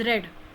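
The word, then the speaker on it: read: This is रीड, this is रेड, this is रेड. तो इसका pronunciation रेड ऐसे होगा पास्ट टेंस में. और पास्ट पार्टिसिपल V3 के फॉर्म में भी रेड होगा.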